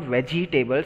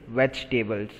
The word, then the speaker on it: vegetables: It is not vegetables, it's vegetables. Okay? Second is silent.